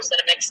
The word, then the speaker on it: Senomyx: Cinnamix is the flavor ingredient, and it's spelled SENOMYX, Cinnamix.